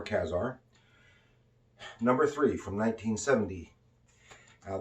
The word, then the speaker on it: Ka-Zar: here this is from kazar some people pronounce it i prefer kazaar number three from 1970.